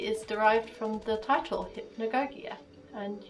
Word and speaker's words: hypnagogia: derived from the title hypnagogia and you pronounce it hypnagogia ah well i've been